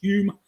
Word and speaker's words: Home: in the Middle there Mr home pronounced y William Douglas Hume um he was a